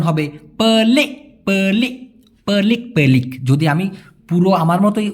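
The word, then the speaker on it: pelik: উচ্চারণ হবে পলে পলিক পেলিক যদি আমি পুরো আমার মতই উচ্চারণ করি হবে হচ্ছে পেলিক পেলিক কিন্তু মালয়েশিয়ানরা যদি শব্দের শেষে কে থাকে তাহলে ছোট করে উচ্চারণ করে তো ওরা ক এরকম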